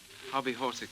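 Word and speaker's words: hobbyhorsical: And will you pronounce it? Hobby Horicle.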